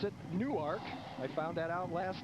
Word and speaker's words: Newark: that's where we are the university of delaware and they pronounce it newark i found that out last night i always thought it was newark like in new jersey but it's newark new